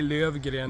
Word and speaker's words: Lövgren: Lofgren. Lofgren. Yeah. Lofgren. We say Okay. Lövgren Yeah. in Swedish.